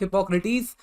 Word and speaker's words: Hippocrates: अब हो सकता है आप में से कई लोग कहेंगे सर हिपोक्रेट्स होता है, तो देखिए अलग अलग प्रोनाउंसिएशन है। वेस्टर्न प्रोनाउंसिएशन जो है वो हिपोक्रेटिस है, अब ये वहीं से